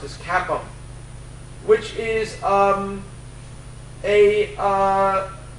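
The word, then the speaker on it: CAPM: the capital assets pricing model which is usually pronounced as cap which is um a uh which is interesting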